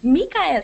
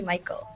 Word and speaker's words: Mikael: When you read that, it's actually like it's pronounced like the traditional name Michael, but it's spelled really strange.